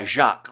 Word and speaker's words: Jacques: FYI, you don't pronounce the S at the end. Uh the name. Okay, so it's just uh Jacqu rather than Jacques.